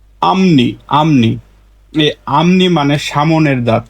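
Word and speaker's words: 앞니: এটা স্বাভাবিক উচ্চারণ হতো আপনি আপনি কিন্তু রুলস অনুযায়ী ফিউ পাইছি বাচছি ফিউপের পরে নিউন তাহলে ফিউপের উচ্চারণটা হয়ে যাবে মিউ তাহলে সঠিক উচ্চারণ হবে আমনি আমনি আমনি মানে সামনের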